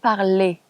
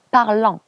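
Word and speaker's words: parlent: nous parlons ONS, vous parlez EZ, il pluriel, elle pluriel, parle ENT. Donc, شوفوا مكتوب ENT بس حنا نطقوها parle et non pas parlant. Il parle bien français, ENT, et on prononce il parle.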